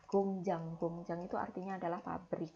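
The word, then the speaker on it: 工厂: Kemudian di sini iang lagi jadi bacin. Berarti ieng-nya akan dibaca menjadi eng lagi. Jadi cara baca tulisan ini adalah gongjang.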